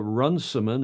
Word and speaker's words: Runciman: I did run it in Tuesday's show of Noah Runciman. Is that how you pronounce it?